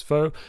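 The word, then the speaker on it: Foa: all players fo uh which is f o a but it does say in parentheses here pronounced as foe a hero born into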